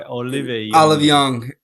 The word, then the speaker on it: Olive Young: The stream is sponsored by Olive Young.